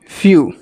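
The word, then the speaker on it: few: दूसरा एग्जांपल देखते हैं इसे क्या बोलते हैं फ्यू आधा फॉर यू फ्यू मतलब होता है कुछ एफ ड एफ ई डब्लू एफ ई डब्लू फ्यू फ्यू means कुछ अगला इसे क्या पढ़ेंगे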